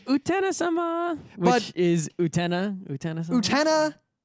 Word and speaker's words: Utena: Utena has a slight emphasis on the te, the way I said it. Utena is not how they say it in Japanese either, and Utna is ridiculous.